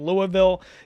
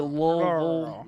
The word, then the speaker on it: Louisville: You got to say I say Louisville, but you got to really say it's like you have water dripping. You're supposed to say Louisville. I hate it. Just say it how it's spelled. Louisville. It's Louisville. It's like you got to have the water dripping out of your mouth.